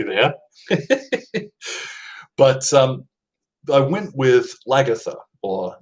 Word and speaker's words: Lagertha: more than that, but Lagertha is how I've heard it pronounced.